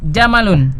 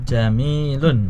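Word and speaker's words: جَمِيلٌ: Alqamaru jamalun. Jamilun. Ya, dilihat tulisannya jamalun. Apa? Jamalun. Jamalun onta. Ya, kalau alqamaru jamalun bulan itu unta kan tidak mungkin ya. Iya diulangi. Alqamaru jamilun. Bulan itu indah.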